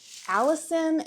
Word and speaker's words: allicin: They also contain allicin, is I think how you pronounce it, A-L-L-I-C-I-N, a compound that has antimicrobial